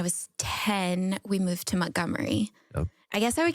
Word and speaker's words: Montgomery: Which I'm trying to pronounce it correctly because it's spelled Montgomery, but everybody there says Mont. So I got to say Montgomery. They say Gummery or Gummery? Let me see. Montgomery. Gummery. Yeah. But I used to be like Montgomery, and everybody's like, "Don't say it like that."